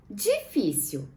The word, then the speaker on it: difícil: Então, difícil é uma paroxítona terminada em L com acento agudo, certo? Por quê? Porque a penúltima sílaba da palavra difícil tem um acento e é uma sílaba tônica, né? Que tem um som mais forte.